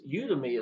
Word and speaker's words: Udimi: Also, if I didn't state this, Udemy is how I pronounce it. It might be said you might Udemy. I've heard people say it all sorts of different ways and stuff like that. But Udemy is what I actually call it.